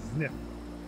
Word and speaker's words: Zniw: soul name sniff yep it's pronounced the snip i have to stumble